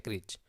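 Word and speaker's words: crèche: तो उसको बोलते हैं क्रीच, ठीक है। ये है क्रीच। क्रीच भी बोलते हैं, क्रीची भी बोल सकते हैं आप, ठीक है। स्पेलिंग याद रहे तो आप क्रीची याद रखिएगा।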